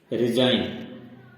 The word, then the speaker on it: resign: Silent का मतलब है कि यह जी का उच्चारण कहीं पर भी किया नहीं जाएगा। इसी प्रकार दूसरा है रिजाइन।